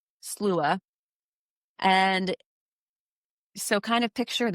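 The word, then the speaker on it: Sluagh: So the first one that we're going to talk about, it's called the Slua, and it's spelled Slugh, Slua.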